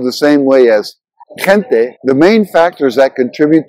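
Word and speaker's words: gente: meaning so in Spanish the G followed by an e or an i is pronounced with a softer sound similar to the English H in hero or the J in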